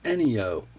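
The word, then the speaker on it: Enyo: and it is the any o I believe I've seen it phonetically spelled out that way anyo a little fixed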